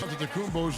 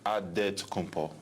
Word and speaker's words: Antetokounmpo: In the Nigerian way, you gotta say it with a D, so it's Antetokounmpo. But in the Greek way, you say with an NT, like Antetokounmpo.